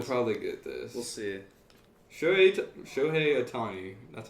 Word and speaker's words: Shohei Ohtani: Shohei Ohtani. That's how you say it, right? Yeah, Shohei Ohtani.